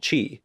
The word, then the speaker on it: qi: an esoteric energy called qi. Though as a game developed by a Japanese company, they technically call it ki, using the Japanese pronunciation of the word.